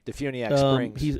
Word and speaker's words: DeFuniak Springs: Is that how you pronounce it? Yeah, Defuniak Springs.